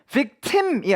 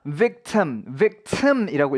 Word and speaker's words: victim: 한 가지 여기서 여러분들이 조심하셔야 되는 것은 발음입니다. 이제 I가 앞에 I는 E라고 읽히는데요. 중간 I는 으라고 읽혀요. 그래서 이게 victim이 아니라 victim이라고 읽힙니다.